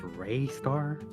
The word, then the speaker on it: Rystar: Um, pronounced Rayar. J buddy. I pronounced it as Ryar when I six and I'm going to continue to pronounce it like that.